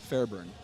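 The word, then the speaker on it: Fairbairn: just gonna i'm gonna this is gonna get butchered okay but it's fair burn i say you did a really good job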